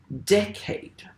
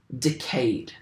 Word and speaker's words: decade: So we would say decade, but we would say afraid.